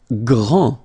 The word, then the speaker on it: grand: Grand, final D, not pronounced, okay, G-R, gr, gr, gr, and then the nasal en, grand, okay, and it means big or tall.